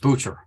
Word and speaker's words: Booker: It's pronounced Butcher.